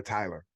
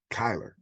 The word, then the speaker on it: Kyler: kyler kyler you know they say his name so fast sometime i hear tyler but it's kyler whatever they put points